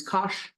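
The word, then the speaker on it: cosh: H to it so cosine becomes Kos sounds like gosh and this is e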